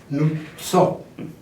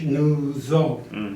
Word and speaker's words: Nuzzo: In Italian, it's pronounced Nuzzo. In English, Nuzzo. In Korean, Nuzzo.